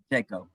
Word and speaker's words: Pacheco: Pronounce that right? Pacheco. Pacheco.